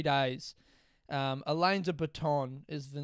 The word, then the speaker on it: Alain de Botton: But in my head, I say Alan of Button, which makes me laugh every time.